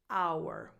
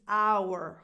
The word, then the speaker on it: our: This word, when said alone, is pronounced our. And again, if you're stressing it, like this is our home, then yes, its pronunciation is our.